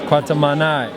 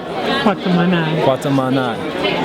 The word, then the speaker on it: Kwatamani: So yes, Kwatamani. Kwatamani.